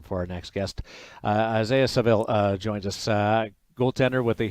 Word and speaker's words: Saville: It's Saville. Okay. Because Saville is the way that I've always pronounced it, and I didn't want to just default to that. So Saville.